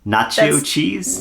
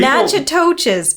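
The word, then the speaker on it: Natchitoches: There's a T. You're missing the T. You're skipping the T Hey, completely. people- Nachitoches, probably. Nachitoches.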